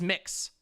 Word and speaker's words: Mx: or miss or misses but it's mx it's mix like like mix you say it like that you say it like mix like mixed dizzy or or mix brown so if you're like